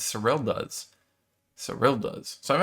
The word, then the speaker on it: Serylda: is israelia's surreal diaz no there's no y there so it's sorel does so real does so